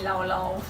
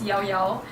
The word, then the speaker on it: Llao Llao: and it will have to be Llao Llao, or I would like to call it irritatingly Llao Llao because it's spelled L-L-A-O-L-L-O-O, but it's correctly pronounced as Llao Llao.